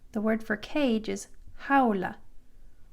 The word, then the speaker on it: jaula: The letter J is pronounced like an H in English. So jaula, the word for cage is jaula, jaula.